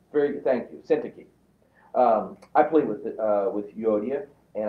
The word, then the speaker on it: Syntyche: Syntyche. Very good. Thank you. Syntyche. I plead with Yodia, and I plead with Syntyche to agree with each other in the Lord.